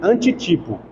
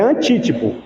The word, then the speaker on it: antítipo: eu me lembrei agora tem até pessoas que pronunciam isso aqui com antítipo de antitipo não deixa de ser também né mas é hã É mas é antítipo só que pessoal também vocês vão ouvir também antitipo eu já tô dizendo